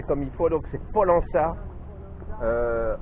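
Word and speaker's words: Pollença: Polonaça. Polona donc à Maorca. Polana. Ah, elle m'a dit Amel donc me dit Polana. Voilà, il faut le prononcer comme il faut. Donc c'est Polana euh à Maork.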